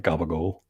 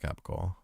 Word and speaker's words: capicola: Do you say it like that, or do you say it like gabagool? No, I say it like Capicola.